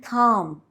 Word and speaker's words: calm: well k is silent l is silent in the words walk and calm w in the words